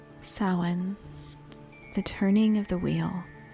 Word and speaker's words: Samhain: Samhain, spelled Samhain, but pronounced Samhain or Samhain, marks the end of the harvest and the beginning of the dark half of the year.